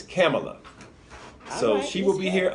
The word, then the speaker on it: Kamala: whoa his camel oh I was corrected huh you know we were pronounced a different way but she told someone her name was camel o camel Ike Tamlyn our Pamela okay it's camel up so she will be